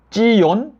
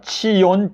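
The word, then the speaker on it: צִיּוֹן: 이제 한국말로는 시온이라고 읽지만 히브리어 발음으로 한다면 찌욘 뭐 이렇게 되겠습니다 치욘 찌욘 이렇게 되는데요 지금 예레미야서 4장 6절을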